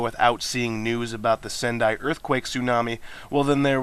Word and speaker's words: Sendai: i'm thinking hey stupid news lady it's not pronounced sunday uh for those of you didn't know sendai is a city in japan and that is